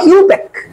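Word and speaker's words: IUPAC: atomic energy agency I এ আর এটা হলো ইউপ্যাক আই ইউপিএসসি আই এর উচ্চারণ হবে না হবে ইন্টারন্যাশনাল ইন্টারন্যাশনাল ইউনিয়ন অফ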